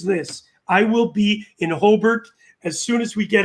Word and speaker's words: Hobart: i will be in hobart as soon as we get out of this country that's the one a that australians pronounce properly oh bart i know it's crazy